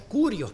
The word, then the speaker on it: Kyrios: Pero la palabra griega Kyrios, otros pronuncian Curios porque es una upsilon, otros dicen ypsilon, pero parece una U como la U de nosotros. El Señor es el amo